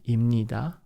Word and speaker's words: 입니다: But if it is connected 입 and ni, then it sounds like 입니다. 입니다, like this. So we pronounce like 입니다.